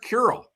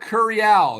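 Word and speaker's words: Curiel: Rob Manford is just announcing the pick, but it's Derek Curl. Derek Derek Curial is how you say it.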